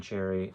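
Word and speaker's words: Cherryh: And you'll see it's spelled, the way Cherry is actually spelled, that's because she added the H to her name when she started publishing to sound more exotic and interesting.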